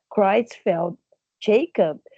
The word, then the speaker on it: Creutzfeldt-Jakob: Olha como eu arrasei nessa pronúncia, quer que eu fale de novo? Creutzfeldt-Jakob.